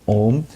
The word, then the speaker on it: Om: be in there are a u and M A pronounced as uh you pronounce as ooh and then m and the m has should